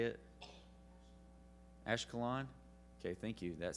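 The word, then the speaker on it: Ashkelon: Ash ashiola is that how you say it ashalon okay thank you that sounds really cool ashalon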